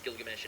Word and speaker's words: Gilgamesh: Yeah, what's driving Garo, or Crollo, or Kira, or Gilgamesh, which is the correct way to pronounce Gilgamesh.